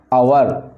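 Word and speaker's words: hour: आवर, अब देखिए H silent रहता है इसमें, इसका जो प्रोनाउंसिएशन होगा क्या होगा, आवर।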